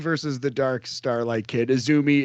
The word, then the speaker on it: AZM: the dark Starlight kid isumi is spelled azm but it's she's known as isumi all right so let's